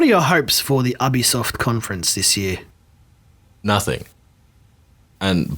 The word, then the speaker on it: Ubisoft: What's the correct pronunciation? Someone I help me. believe it's Ubisoft.